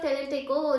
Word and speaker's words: Tlatelolco: तो treaty of टेलेटेको जो है आपकी, ठीक है, इसकी स्पेलिंग भी मैं आपको बताती हूँ, TLATELOLCO, ठीक है।